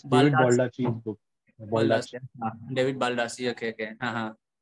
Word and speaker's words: Baldacci: I don't know how to pronounce the name. I think it's Baldacci. So it's David Baldacci's book.